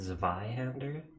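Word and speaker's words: Zweihander: have such high poise it's from German so w is pronounced as V oh so it's do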